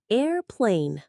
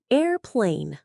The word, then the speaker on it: airplane: นะ คะ Airplane โดย เน้น ที่ พยางค์ แรก Air ค่ะ Airplane และ อีก ครั้ง ค่ะ Airplane และ สุด ท้าย